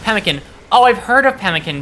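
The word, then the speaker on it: pemmican: Uh pronounced pemkin.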